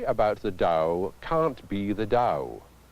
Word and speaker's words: Tao: dow in western spelling its ta o though it's pronounced Dow I've seen it translated